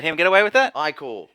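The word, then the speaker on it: ichor: Yeah, but as we're running now, Icor, blood, Ika? Ica, You're gonna let him get away with that? Icor. That was two incorrect pronunciations.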